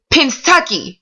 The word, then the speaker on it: Pennsatucky: Pennsatucky.